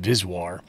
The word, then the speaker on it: VSWR: referred to as vswr sometimes pronounced viswar is your voltage standing